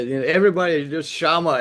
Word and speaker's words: Chama: Everybody just Shama.